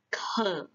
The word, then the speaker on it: 渴: Jadi, kalau haus kita bilangnya adalah ke. ke. Nada 3, ke.